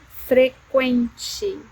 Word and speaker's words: frequente: So one of these words were frequent, frequente, frequente. So we don't use the diaresis, but we use the sound we, we.